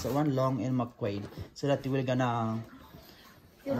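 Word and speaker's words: Long & McQuaid: That's how you pronounce that one, Long and McQuaid.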